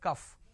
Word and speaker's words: calf: please try to understand calf is whenever you say calf it is c a l f is not cough it is cuff all right the syrup